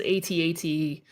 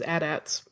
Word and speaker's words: AT-AT: of allterrain armored transports you'll also see that written as Adat or at-ats as they're called uh though the official Imperial pronunciation is at8 in just casual parlaments a lot of people will refer to those as adats and then uh ver